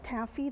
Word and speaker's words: TABPHE: Well, we do have a lot of events put on by, we're called TABPHE, that's how we pronounce our organization, and the Port of Corpus